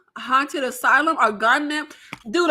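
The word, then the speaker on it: Gonjiam: gunam haunted Asylum or gunm dude the Asians pronounce their J's like a h like um like in Spanish or is it pronounced like a j is it gunam gunam it's j silent haunted Asylum from 2018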